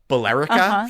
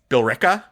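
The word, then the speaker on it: Billerica: And there's one the one that trips up everyone is it's B I L L E R I C A, which seems like it would be Bolerica for sure, but it is Berka.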